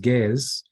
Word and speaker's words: Ge'ez: Now, Ge'ez, sometimes it's pronounced Ge'ez, is the liturgical language of the Ethiopian Coptic Church.